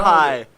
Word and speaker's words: Caterpie: Caterpie.